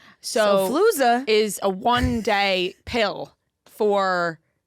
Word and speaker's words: Xofluza: Xofluza. Xofluza is a one-day pill for um the flu. And maybe I'm pronouncing it wrong.